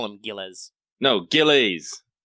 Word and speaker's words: Gilles: caster guile gills giles it's not actually giles but i always want to call them giles i always want to call them gillies that's probably the closest to how they pronounce it oh really yeah it's french it's weird the s is definitely silent but you could call